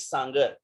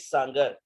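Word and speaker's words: Sanger: यहाँ पर कि फ्रेडरिक सांगर, ये पूरा नाम है उसका, फ्रेडरिक सांगर। इसको सैंगर सैंगर लोग पढ़ते हैं, लेकिन एक्चुअली इसका जो सही प्रोनाउंसिएशन है वो है सांगर, ठीक है।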